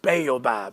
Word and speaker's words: Baobab: Did I pronounce that correctly? Baobab, there you go.